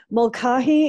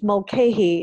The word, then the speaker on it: Mulcahy: Mulcahy is the correct way to say it with an Irish or British accent. Mulcahy is how we say it in the US.